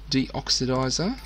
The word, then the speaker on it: deoxidizer: algae if we need it for our algae deoxidizer.